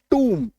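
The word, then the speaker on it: tomb: देखो टी ओ एम बी पी का उच्चारण तो इसमें नहीं होगा बट इसका उच्चारण टूम होता है। टी डबल ओ एम ठीक है टूम टी ओ एम बी इसका मतलब होता है कब्र ठीक है नॉर्मली इसका उच्चारण होना चाहिए था टोम लेकिन इसका उच्चारण होता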